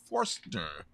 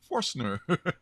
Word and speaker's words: Forstner: sure and this is a Tris Forster forstner you should pronounce the right name right this time a Trish forstner cover